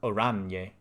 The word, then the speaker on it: Oranje: Oranje is pronounced Oranje.